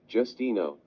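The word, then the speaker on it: Justineau: to call her Miss J here's how to pronounce her actual name Justino as well as sgent Parks Dr Caldwell and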